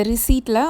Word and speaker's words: receipt: வாங்கிட்டதுக்கு proof மாதிரி அந்த ரிசீட்டில் அவர் sign போடுறாரு. ரிசீட்டில் பி சைலண்ட், எப்போவுமே அந்த வேர்டு வந்தால் நீங்கள் ரிசீட் அப்படின்னு தான் அதை ப்ரொனவுன்ஸ் பண்ணணும்.